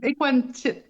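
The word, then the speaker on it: Ekuanitshit: Oui, on va dire Equanichit.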